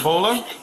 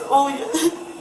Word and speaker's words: Olya: Bola? It's Olya.